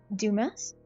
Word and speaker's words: Dumas: Dumas? Pronounced French, but yeah.